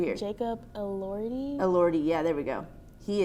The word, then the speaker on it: Elordi: also love Jacob do you know how to pronounce it? Latimore, is it?